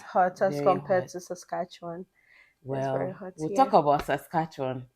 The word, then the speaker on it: Saskatchewan: hot as compared to Saskatchewan yeah we talk about Saskatchewan is this as cartoon it's also it's not Saskatchewan some people mention this Saskatchewan please it's Saskatchewan Saskatchewan in Toronto and